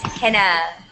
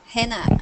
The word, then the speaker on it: Hina: is the correct pronunciation? It's Hina. Hina.